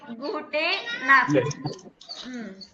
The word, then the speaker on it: gute Nacht: இந்த நம்ம வந்து இந்த ஈ இருக்கே அப்படின்னா ஈ கூட ப்ரொனவுன்ஸ் பண்ணணும், ஸ்பெல் பண்ணணும். gute Nacht.